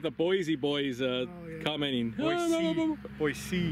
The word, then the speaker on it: Boise: Boise Boys uh commenting Boise Boise you got to say it right otherwise they know you're not from in oh when you go